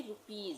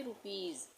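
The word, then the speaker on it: rupees: यहां हमने ऊपर पढ़ा एस से पहले डबल इ आएगा तब भी हम इसका उच्चारण ज करेंगे। यानी कि रुपीज। इसको हम पढ़ेंगे रुपीज।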